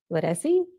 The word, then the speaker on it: Leduc: According to my report, and I could be pronouncing this wrong, I think it's Ledesi. How do you spell it? It's Leduc. Okay, all right.